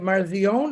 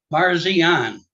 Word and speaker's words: Parsian: say your last name is that marzion is that I pronounce it or I'm going to say it wrong so you just correct me please sir Parsian I was close yeah